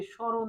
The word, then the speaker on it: স্মরণ: কিন্তু শব্দের শুরুতে হওয়ার কারণে ম এর কোন উচ্চারণ হয় না। ম এর কোন উচ্চারণ হবে না।